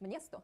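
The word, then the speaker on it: město: So this word, which means town, is actually pronounced mniesto.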